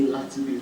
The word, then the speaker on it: Laatubigs: How do you pronounce the name of your company? It's actually called Laatubigs.